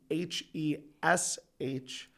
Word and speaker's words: Khash: It's pronounced phonetically Hesh. So it's Hesh. The K is silent. The A is like an E.